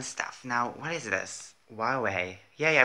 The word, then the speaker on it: Huawei: Huawei. Yeah, I pronounced it right.